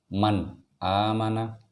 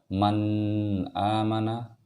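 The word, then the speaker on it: مَنْ آمَنَ: Oh ya Man aamana jadi penyebutannya atau pengucapannya dari ayat ini adalah man aamana Jadi tidak boleh man aamana jenis hardisk ini harus ada istirnya jadi mematikan bertemu dengan alif harus ada izharnya maksudnya harus betul-betul jelas dan tidak boleh ada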